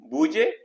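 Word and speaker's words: بودجه: बेनुमाने एज ए तहलील कर analyst बजे budget इसमें जो दाल है बद नहीं कहेंगे बजे कहेंगे दाल साइलेंट है।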